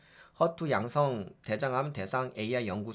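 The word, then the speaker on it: HER2: 될 거 같고 그래서 허트 예 발음은 허투 양성 대장암 대상 AI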